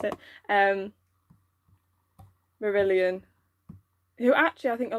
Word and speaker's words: Marillion: me just Google Marillion yeah that is Hope pronounce it um Marillion who actually I think a lot of people